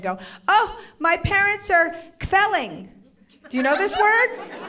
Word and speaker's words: kvelling: to turn and go, oh, my parents are kvelling.